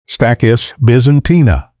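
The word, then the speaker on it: Stachys byzantina: Pronounced stackis Byzantina.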